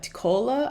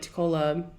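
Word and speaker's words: TECOLA: he has actually created this uh tacola I think that's how he pronounced IT t-e-c-o-l-a project and I'll put the link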